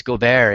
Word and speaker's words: Gobert: It's Rudy Gobert. It's Gobert. It's his Oh, beautiful French name that you just hammered.